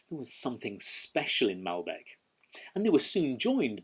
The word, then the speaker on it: Malbec: it always has been malbec the emphasis sits on that first syllable but in south america